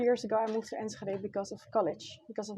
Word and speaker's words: Enschede: Yeah, it's Enschede. like with the hard G in the beginning of throat. Okay, Enschede.